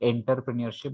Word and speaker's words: entrepreneurship: It is ENTREPRENEURSHIP, and its pronunciation also you people have to understand that is not entrepreneurship, but it is pronounced as entrepreneurship.